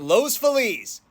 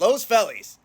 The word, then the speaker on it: Los Feliz: wanted to talk about San Pedro or is it San Pedro and Los fiz or is it L's fellies let's get into it